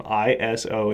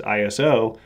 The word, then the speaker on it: ISO: always spelled the same ISO in capital letters but it's not an acronym so it's not pronounced ISO it's actually a word it's derived from the